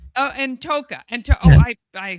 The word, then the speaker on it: Ntoka: Kenya and Kota. Toa. Oh, and Toka.